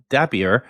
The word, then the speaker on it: Dappier: So we're here today with Dan Goman who's the CEO and uh Chris Arva Arvapali who is the CTO of Dapier. Uh rhymes with happier I've been told.